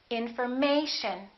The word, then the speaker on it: information: This is the most stressed syllable right here, the A. Information. So we don't say infor, and we don't say mation. We don't say information. We say information.